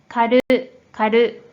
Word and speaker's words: 狩る: 자, 이 한자 뜻으로는 狩る、狩る、 음으로는 しゅ、しゅ、 로 각각 발음해줘요.